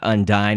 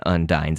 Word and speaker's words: Undyne: Again, some people might call this Undyne, but Undyne is the way I guess Toby has shown that it is pronounced.